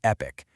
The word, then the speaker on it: Epique: And it's called Epique Realty. And yes, that's pronounced Epic, which you'll see is pretty fitting.